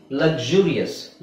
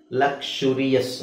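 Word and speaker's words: luxurious: ಹೇಳಿಕೊಟ್ಟಿದೀನಿ ನಿಮಗೆ ಅನ್ಸುತ್ತಲ್ಲ ಓಕೆ ಅದೇ ತರ ಇದು ಲಕ್ಸುರಿಯಸ್ ಲಕ್ಸುರಿಯಸ್ ಅಂತ ಹೇಳಬಹುದು ಅಥವಾ ಲಕ್ಷುರಿ ಲಕ್ಷುರಿಯಸ್ ಅಂತನು ಹೇಳಬಹುದು ಎರಡು ತರನು ಹೇಳಬಹುದು ಓಕೆ ಐದು ಸೌಂಡ್ ಇದೆ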